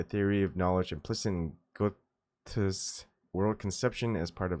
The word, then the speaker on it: Goethe: How do I say Goethe? I pronounce things wrong so many times that I want to at least say it correctly. Goethe. Oh, Gotha. Oh my goodness, I wasn't even close. All right. Gotha.